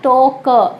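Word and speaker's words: talk: एल आ रहा है लेकिन साइलेंट होगा एल। इंग्लिश में ऐसा ही होता है कुछ शब्दों के साथ, TAL के, लेकिन पढ़ेंगे क्या, टॉक। एल की आवाज़ बिल्कुल नहीं आएगी।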